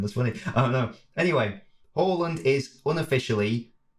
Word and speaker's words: Haaland: by the way i i know it's definitely not harland in like the norwegian i think it's holland i think but i say horland because it's a because i think